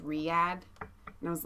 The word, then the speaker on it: Riyadh: I get a message from Horatio this morning, and he's like, and by the way, it's pronounced Riyadh.